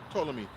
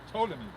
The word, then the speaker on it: Ptolemy: by the suggestion of Ptolemy. Oh, Ptolemy. Okay. The T is silent, I think. Or P is silent, yeah.